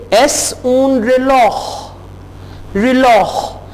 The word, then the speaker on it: reloj: अब देखें खे की आवाज, जे जो है यहां पे खे की आवाज दे रहा है, तो जे की दो आवाजें हैं, एक हे की है जैसा कि हमने कहा हापोनेस, और एक खे की है जैसा कि हमने कहा रिलॉह।